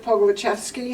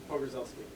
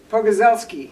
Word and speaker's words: Pogorzelski: See, what is the guy's name over at the is Mark Pogolachevsky? How do you say that? Oh, Mike Pogorzelski. Pogorzelski.